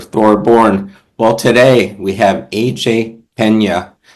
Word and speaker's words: AJ Pena: Well, today we have AJ Pena. How did I pronounce that, AJ?